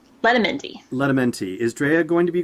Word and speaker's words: Letamendi: I'm sorry, I'll have to ask you to pronounce her last name. Letamendi.